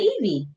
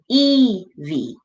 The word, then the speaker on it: Evie: Okay, so then I'll pronounce it Evie. Yeah. Evie. Yes. Like Yvonne. I have a cousin named Yvonne, and she spells it with a Y.